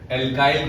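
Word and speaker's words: alkyl: Next topic एल्काइल group से है, इसे आप एल्किल ग्रुप भी प्रोनाउंसिएट कर सकते हो।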